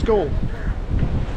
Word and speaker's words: Galle: Apparently, I've asked the locals and uh the English pronunciation of it is Gore.